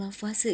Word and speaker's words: Lavoisier: kalian tulis itu mengenai hukum lavase ya ini walaupun ditulisnya lavoisier kita bacanya FW karena lavase ini ilmuan dari Perancis sehingga pelafalannya seperti itu hukumnya fase atau hukum